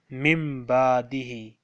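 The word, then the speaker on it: من بعده: Again, in the next word, we have a small meme on noon. We will say mimbadihi.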